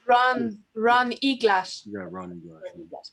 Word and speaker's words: Ron Eglash: Et là, j'essaie de prononcer son nom. Brown Eagle Ash, is that what you said? Ron Eglash.